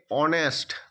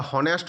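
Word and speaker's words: honest: এ অনেস্ট দেখো এখানে এইচ একটি কনসোনেন্ট লেটার। কিন্তু এর উচ্চারণটি ভাওয়েলের মত অনেস্ট আমরা হনেস্ট বলি না হ বলি না অনেস্ট অ একটি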